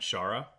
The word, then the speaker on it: Chara: If you haven't met Shara in our office, have you met Shara? I have not. Okay, connect with Shara. That's spelled Chara.